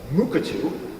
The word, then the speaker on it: Mukurtu: platform which is called Mukatu. This R here is silent. It's a Australian Aboriginal word meaning safekeeping place, and it was created for Australian